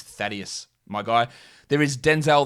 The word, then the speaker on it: Thaddeus: uh thad young who i often will deliberately mince mispronounce as this because i heard someone say that on like some sort of podcast somewhere and was actually calling him fiduce no it is uh it is thaddeus my guy there is